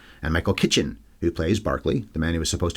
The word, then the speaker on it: Berkeley: man will soon meet Barkley Cole spelled Berkeley pronounced Barkley so Mr Dennis finchatton